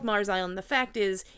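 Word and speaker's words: Meaghers Island: pointed toward an island called Clancy's uh called Mars Island it's spelled meager Island m e a g h e r s I've seen uh that it's pronounced Mars island or that it's actually called Mars Island the fact is it's Mars Island and it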